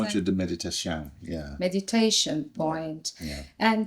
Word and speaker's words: Ponto de Meditação: Ponto de Meditação, yeah.